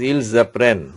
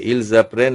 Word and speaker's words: ils apprennent: Be careful regarding this joining. That is when S is followed by a vowel, consonant is followed by a vowel, then you are pronouncing by joining. That is ils apprennent. There is a joining is there.